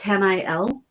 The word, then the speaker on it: Haniel: and as I say her name is h n i e l and it's Han L and um her name